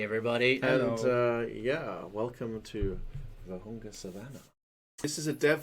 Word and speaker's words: Vurhonga: Vurhonga? Yeah, that's good. Vurhonga. Silent H. Us Brits like those silent letters, so that's good.